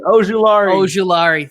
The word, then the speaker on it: Ojulari: Okay, and the Chargers select edge rusher from Georgia, Azeez Ojulari. I needed the pronunciation. Ojulari.